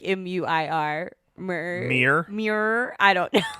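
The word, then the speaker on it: Muir: murr it's like m-u-i-r mer mirror i don't know i believe it's pronounced mere like mere woods wait i think northern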